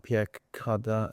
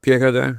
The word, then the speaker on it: Pierre Cardin: There's um and I'm going to say it wrong Pierre Cardin. Pierre Cardin?